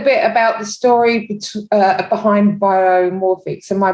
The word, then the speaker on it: Biomorphics: And so tell me a little bit about the story behind Biomorphics. Am I pronouncing it right?